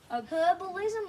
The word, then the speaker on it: herbalism: herbalism or herbalism. You can say it Also, two ways. It's the silent H. So it's say Herbalism. Or you can say herbalism.